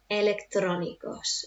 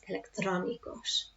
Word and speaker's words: electrónicos: Electrónicos. And that's where I put my emphasis. Electrónicos.